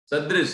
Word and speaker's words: सदृश: और इसमें लिखा है सरिता सदृश, सदृश है ना, सदृश नहीं है, सदृश, दृश्य, सदृश, ठीक, उच्चारण ठीक रखें।